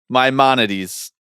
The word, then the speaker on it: Maimonides: Maimonides Park. Maimonides. We learn, we grow, we evolve. We learn how to pronounce things.